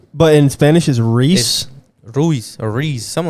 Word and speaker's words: Ruiz: like out of nowhere oh andy ruiz andy reese i'm saying it right andy reese mexican is so weird rui ruiz no reese the fat mexican andy reese ruiz reese andy reese reese thank you in english in english it's reused